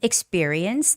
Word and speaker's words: experience: Um, experience. That has a second syllable stress. So, experience. Experience. The stress goes on E.